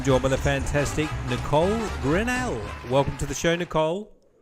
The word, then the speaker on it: Grinnell: Le today I'm joined By the Fantastic Nicole grenell Welcome to the show Nicole thanks for having me how did I go with the surname pronunciation you did great you did great excellent grenell you got it perfect wonderful all right so